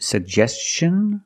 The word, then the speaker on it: suggestion: We have two G's and we're going to pronounce both of them. The first G is a hard G sound. Sug. And the second G is the J sound like juice and jump. Pronounce both.